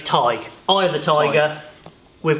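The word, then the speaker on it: Tadhg: you so much um it's tiger without the Earth so it's TIG I of the tiger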